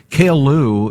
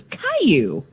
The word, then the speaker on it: Caillou: What is Kale Lou anyway? That sounds like Superman's dad. No, it's Caillou. Caillou? Yeah, it was it's on not PBS. Spelled like that. Yeah, well, Caillou. That's Kale Lou.